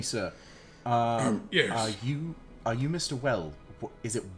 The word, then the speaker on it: Wellis: Well? Is it Wellis? W-E-L-L-I-S? Yeah, Wellis. Hey, I spelled it right. Are you Mr. Wellis?